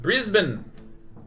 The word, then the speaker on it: Brisbane: did I nail it it's pronounced brisban it's Brisbane sorry a is pronounced